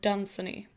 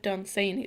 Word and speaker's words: Dunsany: I've always pronounced it Lord Dunsany, but someone said Dunsany, so now I'm not sure anymore.